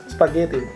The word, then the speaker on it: спагетти: Oke, jadi kita setelah strana после страны сейчас мы попробуем говорить спагетти. Да. Ой, Еды. спагетти я неправильно сказала. как говорят? Ошибка. Спагетти. Спагетти. Потому что у него есть ударение, да, спагетти.